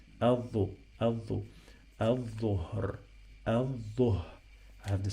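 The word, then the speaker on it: الظهر: So I have here L, but we didn't pronounce it, we drop it, the same like the previous word.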